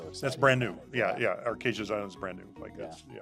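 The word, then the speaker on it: Archazia: Arcasia. Arcasia. That's official. That's how it's been pronounced to me. So I'm assuming that's official.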